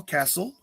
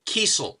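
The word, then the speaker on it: Kesel: Which And means I incidentally, now- incidentally, it's Kiesel. And the only reason I know that Really? is because when I met him, I said, which is it? Is it Carl Kessel or Kiesel? He says it's pronounced Kiesel.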